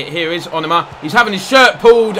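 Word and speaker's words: Onomah: Thank you to all of you that told me I was pronouncing it wrong and told me how to say it. Here is Onoma.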